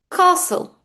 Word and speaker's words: castle: The first one is castle. Castle. The T is silent.